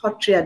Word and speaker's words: Sattriya: ये जो सत्रिया डांस है, Hotriya dance, we pronounce Hotriya dance.